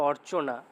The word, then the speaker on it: অর্চনা: এই যে রেপ কোনখানে উচ্চারিত হয় না, যে শব্দের উপরে বসে তার আগে উচ্চারিত হয়। এই যে অর্চনা কেমন উচ্চারণ করছি আমরা?